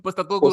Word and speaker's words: Postecoglou: Postecoglou.